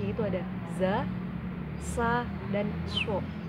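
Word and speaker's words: ز: Kalau za itu z dan a, za.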